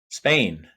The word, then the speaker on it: Spehn: be here today with Michael Spen right Spain Spain country okay um I've heard a